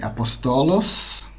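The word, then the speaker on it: ἀπόστολος: dedique ao pastorado Então a gente tem aqui apostolos essa é a pronúncia profetas temos Evangelistas temos penas penas é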